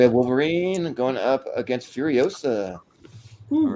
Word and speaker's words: Furiosa: It's Furiosa, not Furiosa.